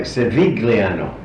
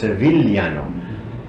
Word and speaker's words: Civigliano: In English it sounds like Civigliano, in Italian it's Civigliano.